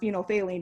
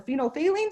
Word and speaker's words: phenolphthalein: bottle and it has this phenol which is pronounced phenolphthalein in it sure kenny go ahead squirt some